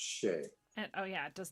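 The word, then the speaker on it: sidhe: spelled s-i-d-h-e uh for shea shea so it's pronounced not how it looks but it's pronounced shay and oh yeah it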